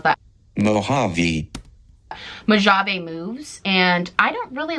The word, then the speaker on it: Mojave: I'm gonna put an editing me of how you actually pronounce that. Mojave Moves, and I don't really love the Jelly